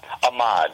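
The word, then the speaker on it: Amad: So we'll get, I don't know if I'm pronouncing this right, but it's Ahmad or Ahmad? Ahmad, you're okay.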